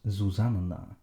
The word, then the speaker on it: Zuzanna: But in Polish, two letters next to each other are both distinctly pronounced. So when Susanna becomes Zuzanna, you can write it as Zuzanna, if it helps you remember to pronounce both N's.